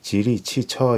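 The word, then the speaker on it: 吉利汽车: 합니다 바로 질의 자동차입니다 질의 자동차의 중국어 발음은 지 리치 쳐 입니다 치 천은 중국어로 자동차 라는 뜻인데요 지리가 한자로는 길 이라고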